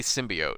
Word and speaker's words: symbiote: In the actual movie, they say it right. They say symbiote.